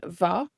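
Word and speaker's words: mhaith: Mar hampla, as an example, maidin wa is good morning, maidin wa, or it can be pronounced as maidin va. The MH can be pronounced like a V or a W.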